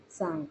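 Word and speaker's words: Tsangpo: English में है टी सांग को ठीक है तो इसमें टी साइलेंट सांगो के नाम से इसको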